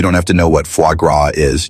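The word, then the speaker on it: foie gras: And no, you don't have to know what fuagra is. Just don't pronounce the s.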